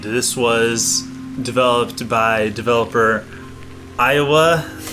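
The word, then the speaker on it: aeiowu: developed by developer Iowa I think that's how it's pronounced it looks like an abomination of a name I'm sorry lay e hi o w you is that how it sprouts Iowa yeah they spelled it phonetically oh so um and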